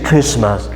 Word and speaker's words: Christmas: You don't pronounce T, you say Christmas.